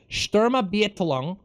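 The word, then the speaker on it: Sturmabteilung: the afternoon the sturm sorry let me pronounce this shturma beatlong the milit the paramilitary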